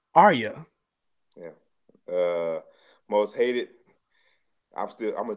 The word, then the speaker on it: Arya: It's actually pronounced Arya.